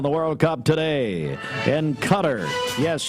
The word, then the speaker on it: Qatar: World Cup today in Cutter yes you pronounce it cutter not Qatar France and Morocco two